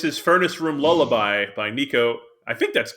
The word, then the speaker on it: Neko: Oh yeah, So this is Furnace Room Lullaby by Neko. I think that's how you that's say her name. Nico. Yep, Neko.